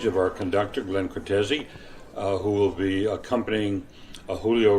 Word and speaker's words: Cortese: Am I pronouncing that right, or is it Cortese? That is right. Cortese, yes.